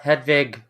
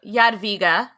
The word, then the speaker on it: Jadwiga: the whole thing off we're gonna say yad viga because that's how they say it i hope i hope i'm getting it right that's how they say it in poland where she is now